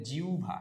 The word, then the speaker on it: জিহ্বা: আমরা অনেকে বলি কি জিহ্বা কি বলি জিহ্বা না ভাই এটা জিব্বা না জিহবাও না এটা জিউভা এটার উচ্চারণ কি হবে